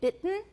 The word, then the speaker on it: bitten: In both British and American, the T in bitten is accompanied by a glottal stop.